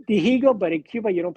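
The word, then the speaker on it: Dihigo: you pronounce this martindigo you don't pronounce h in Cuba it's Diego okay they say digo but in Cuba you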